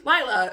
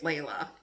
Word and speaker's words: Lila: human half fae named lila who lila i just said my character's name wrong it's layla i have no idea